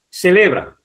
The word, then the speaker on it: celebran: Celebran. Celebran, si os dais cuenta, también termina en N y la sílaba tónica es la sílaba le.